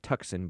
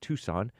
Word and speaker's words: Tucson: It looks like Tuxen, but it's pronounced Tucson.